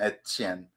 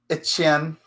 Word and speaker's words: Etienne: It's just a French pronunciation of a French last name, Etienne.